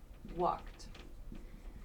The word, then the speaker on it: walked: As I just said, there's walked, that t sound, walked.